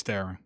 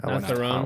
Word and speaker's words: Theron: It's a movie starring Charlize Theron. Hey, how do you pronounce your last name? Is it Theron? It's Theron.